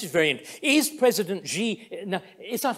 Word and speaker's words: Xi: Is President Xi, now, is that how it's pronounced?